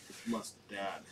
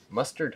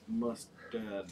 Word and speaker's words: Mustad: Mustad. Mustard Hooks. Mustad. Oh, I've been saying it wrong all these years.